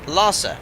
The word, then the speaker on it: Lhasa: The H is Lhasa, it's silent. It's pronounced Lhasa. Roger.